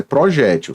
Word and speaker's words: projétil: o plural de projetil aqui neste caso a pronúncia é projétil certo porém é possível